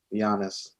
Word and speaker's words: Giannis: He probably not, but No, Is it pronounced Giannis or is it pronounced Giannis? Giannis.